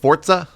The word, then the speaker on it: Forza: gotcha um it's Forza isn't it pronounced fortza fortza Forza it's Italian I'm not sure yeah I think it's I think it's the proper way is like fortza like there's a t at the end I just want I